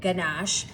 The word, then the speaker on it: ganache: Now, normally when you're making a chocolate ganache, hard G, right? So if I pronounced it wrong before, what a silly word. I don't know why you pronounced the G.